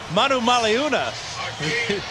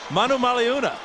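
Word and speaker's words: Manumaleuna: okay please do Brandon Manu maluna the ninth year veteran out of Arizona who was that brand Manu maluna every vow is pronounced and a great run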